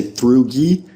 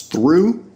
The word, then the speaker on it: through: change here's what happened in some words the GH disappeared completely like in the words through and bought okay so you don't say through and you don't say Bachi you totally eliminate those GH sounds through and bought in